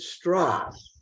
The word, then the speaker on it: Strauss: antagonist in the film man whose name was Strauss but he pronounced it straws because he was hiding from his Jewish identity Oppenheimer never did he